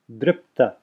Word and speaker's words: dripta: So it's dripta. I'm not saying, notice I'm not saying dripta. I'm putting a pause there between, as if a pause between the p and the ta, saying dripta. And that's really just an extending of the p, dripta.